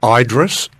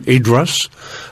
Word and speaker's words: Idriess: um uh around uh it pronounced a number of different ways around the D Tree he's it's called Idris uh the Australian dictionary of dictionary of biography calls him idras uh I call him idas as some of the